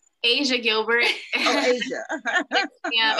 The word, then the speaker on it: Aysia: Oh, Asia.